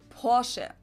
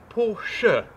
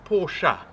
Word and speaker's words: Porsche: in german we say porsche so there's like this short a sound in the end so it is porsche it's not porsha so in german e